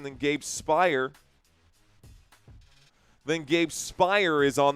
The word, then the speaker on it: Spire: So, if that is the correct pronunciation, then Gabe Spire.